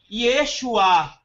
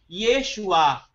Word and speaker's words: Yeshua: dizer salvação no hebraico, você vai pronunciar Yeshua, com esse re, com esse som de R no final. Yeshua.